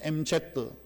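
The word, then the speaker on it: MZ: 요즘 20대 뭐 30대 초반까지를 이야기하는 MG 세대라 그렇게 이야기를 합니다. 옛날 어른들 발음으로는 M드 뭐 젊은 사람들 발음으로는 MG입니다.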